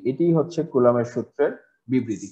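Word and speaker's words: Coulomb: ঠিক আছে, বাংলা লেখাটি দেখে অনেক সময় কুলম্ব বলতে ইচ্ছা করে, এটির উচ্চারণ কিন্তু কুলম্ব নয়। ঠিক আছে, এটি উচ্চারণ হচ্ছে কুলাম।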